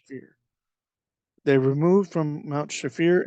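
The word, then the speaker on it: Shapher: and pitch in Mount shaffir yeah I believe that's pronounced fear they removed from Mount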